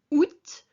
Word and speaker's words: août: So janvier, février, mars, avril, mai, juin, juillet, août, which sounds like get août.